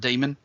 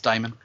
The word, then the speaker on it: daemon: which is it's about some some people actually pronounce that demon but normally it's diamond i prefer to think